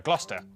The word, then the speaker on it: Gloucester: Cester is pronounced stir. Leicester, Worcester, Gloucester.